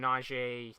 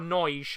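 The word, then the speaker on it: Nagy: good work from adam naiji does really well gets the ball back or noise as they're pronouncing him i think that's probably the best way to pronounce him as portugal get the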